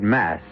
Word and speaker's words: masque: of the Red Death the word mask you should know is spelled m-a-s-q-u-e and means masquerade and